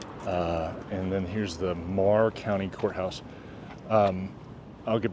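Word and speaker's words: Meagher: H E R and it's pronounced Mah, not meager.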